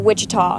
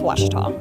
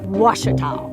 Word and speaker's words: Ouachita: Back in Texas, everybody pronounces it Wichita, but really it's Ouachita. Ouachita.